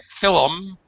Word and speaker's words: film: The L and the M are pronounced. They're not silent.